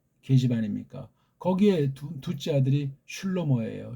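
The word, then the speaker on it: שלמה: 거기에 둘째 아들이 슐로모예요. 슐로모. 우리네 발음으로는 솔로몬. 슐로모라고 발음하는 게 좀 낫겠죠?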